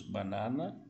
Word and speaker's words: banana: Lembrando que, olha a diferença banana. No português, nós utilizamos muito o nariz. Perceba, leia lentamente. Banana. Em espanhol, o som do A é aberto. Então, se diz banana.